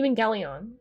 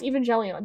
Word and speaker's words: Evangelion: It's pronounced with a hard G, Evangelion. Yeah, it's Evangelion, definitely.